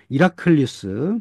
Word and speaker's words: 헤라클리우스: 원래 이 그리스어에서는 H가 묵음이거든요. 그래서 이라클리우스 이렇게 부르거든요.